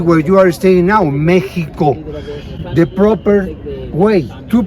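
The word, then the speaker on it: México: Actually, the city where you are staying now, Mexico, the proper way to pronounce the name of my city is Mexico.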